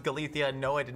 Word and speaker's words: Galicia: Yes, it is pronounced Galicia.